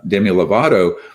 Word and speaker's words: Demi Lovato: uh my kids was sam really lame uh demi lovato you said it right you said good so